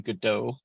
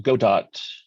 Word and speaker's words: Godot: Oh, it's yeah, sorry, it's Godot. It looks like Godot.